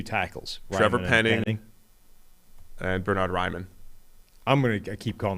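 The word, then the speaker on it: Raimann: So I think it should be pronounced Ryman and is being pronounced Raymond on the basis that that's what Americans can handle.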